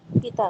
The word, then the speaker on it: पीता: उच्चारण में ध्यान दीजिएगा जरा लंबा पी को कर दीजिए पीता तो यह वाला पिता हो जाएगा ठीक है ड्रिंक वहां आ जाएगा व नाउन नहीं होगा वर्ब हो जाता है तो जब भी